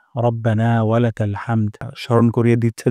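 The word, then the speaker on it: ربنا: পড়ার তাসবিহ শিখবো ইনশাআল্লাহ রব্বানা ওয়ালাকাল হামদ প্রথম শব্দটি হলো রব্বানা এখানে র মোটা করে উচ্চারণ করব না এখানে এক আলিফ পরিমাণ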